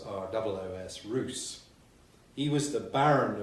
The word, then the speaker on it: Ros: Well, I'm going to talk about a medieval baron called Robert de Roos, spelt R-O-S but pronounced as though it was R-O-O-S, Roos.